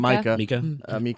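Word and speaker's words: Mika: Micah.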